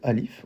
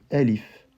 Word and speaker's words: alif: l'alphabet qui s'appelle alif, on va pas dire alif. Si vous réécoutez la première vidéo, je disais pas alif, mais bien elif. Alif, elif. Eh bien ça, cette manière de prononcer le A s'appelle la imala, c'est-à-dire une diminution, un adoucissement du son A qui tend un peu vers le son E.